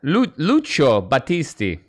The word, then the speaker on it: Lucio Battisti: You could probably pronounce it better because, but with you being Italian, Lucio Battisti or something like that. Lucio Battisti.